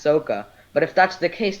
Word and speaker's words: Sokka: in the indian culture sako would actually be pronounced soca but if that's the